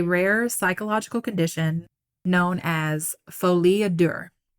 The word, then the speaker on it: folie à deux: I could be mispronouncing it, but I did Google it to try to figure out how to pronounce it. So I think that's right. Folie à deux. It's French.